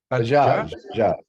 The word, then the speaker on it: Bajaj: So our next speaker is Professor Chandrajit and how to pronounce her last name? It's Bajaj. Bajaj.